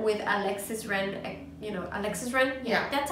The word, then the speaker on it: Alexis Ren: You know, Alexis Ren? Yeah. That's how you pronounce it?